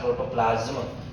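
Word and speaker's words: protoplasm: ये ज कर दो, प्रोटोप्लास्ट, प्रोटोप्लाज्म। एस को ज के प्रोनाउंसिएशन से बोला जाता है।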